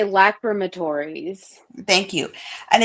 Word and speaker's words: lacrimatories: I would say lacrimatories.